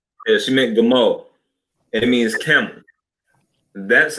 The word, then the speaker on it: Gimel: So in English, you might spell it Gimel. Is how you would typically see it, but it's really pronounced with the God, the Ma, and the La.